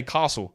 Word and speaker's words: Castle: I tell you why because Ste Castle is how it's pronounced in in America and for some reason in Victoria here in Australia my state where I live we say castle the other states I